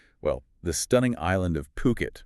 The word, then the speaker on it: Phuket: It centers on IHG officially bringing their Voco Hotels brand to well the stunning island of Puket. Remember to pronounce that Puket. Puket.